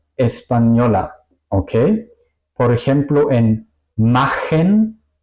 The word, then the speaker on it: machen: Por ejemplo, en machen, kochen. ¿Ok? Aquí suena el sonido de CH como la J española.